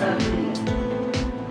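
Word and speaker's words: ophidian: It is though, but it's pronounced, actually it's pronounced Obsidian.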